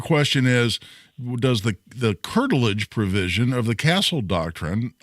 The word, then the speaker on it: curtilage: wondering about the uh principal of is it curtilage I'm not sure if I'm saying it right yeah curtilage it's the correct word yeah wasn't she also